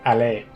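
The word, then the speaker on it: Allee: Striking at dawn, British commandos seized Tempelhof airport while armored columns advanced along Frankfurter Alley, or Alley in more correct pronunciation.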